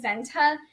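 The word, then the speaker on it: Senta: That same year, we had an au pair whose name was Zenta, but it was spelled S-E-N-T-A.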